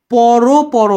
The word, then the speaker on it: পর পর: যেমন এটা কিন্তু পর পর হবে, পর পর, বা হচ্ছে বড় বড়।